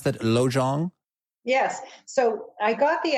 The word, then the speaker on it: Lojong: Is it, how do I pronounce that? Lojong?